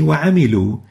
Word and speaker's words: وَعَمِلُوا: In certain cases, we write a letter, but we don't pronounce it, like the alif here in وَعَمِلُوا الصَّالِحَاتِ. We don't say وَعَمِلُوا wa, we say وَعَمِلُوا, as if there is no alif.